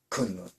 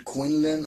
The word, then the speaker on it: Kunlun: And then I would have to say the Kunlun. This worker Kunlun, pronunciation Quinlan. I know the pronunciation is Quinlan. I will get that through my thick skull, but what I read is Kunlun.